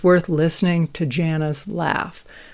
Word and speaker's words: Jana: it's worth listening to Jana's laugh, or Jana is actually how she pronounces her name.